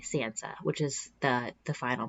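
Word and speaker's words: tsantsa: like whoa wait what this is spelled t-s-a-n-t-s-a Sansa which is the the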